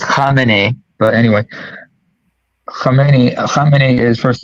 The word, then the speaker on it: Khamenei: To what you said earlier about, by the way, Sabi is pronounced Khamenei, but anyway, Khamenei is, first of all, he's not ethnic Persian.